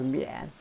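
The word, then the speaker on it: 宀: This is pronounced as mian.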